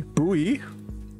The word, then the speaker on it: buoy: don't know man some it's pronounced like boy buoy wait what's pronounced life